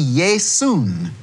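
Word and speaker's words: Ἰησοῦς: English I would see Yae soon that is how they say it in Greek a different ending at the end which a little noon sound now if I go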